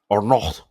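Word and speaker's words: Arnault: Now, this Bernard Arnalt, Bernardin Arnold, Arno, because you don't pronounce the T, right?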